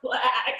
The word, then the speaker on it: Blaaack: any questions so the reason that it's pronounced black is because we're honoring